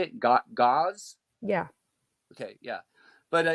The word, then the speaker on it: gauss: things that measure the God how do you pronounce how do you say it got gauze yeah okay yeah but uh yeah so it'd